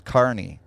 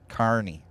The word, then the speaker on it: Kearney: I'm sorry, it's Carney. Carney. I always pronounce it wrong, Randy. I've been pronouncing that wrong for several years now, so I apologize to Kearney, Missouri for pronouncing your city wrong, because I love Kearney, Missouri.